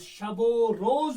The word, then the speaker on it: شب و روز: پاس اصول ہے کہ جب دو فارسی لفظ آتے ہیں تو بیچ والا جو واو ہوتا ہے اس کی پروننسیشن، اس کا تلفظ شب و روز بن جاتا ہے، یعنی یہ واو اس پہلے والے لفظ کے آخری حرف کے ساتھ مل جاتا ہے۔ بجائے اس کے اگر